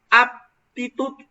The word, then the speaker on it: aptitud: que en el español cuando nosotros pronunciamos de manera correcta una es aptitud aptitud esa se refiere al hecho de tener una capacidad para hacer algo y actitud ven que no coloco los labios juntos sino actitud esa es con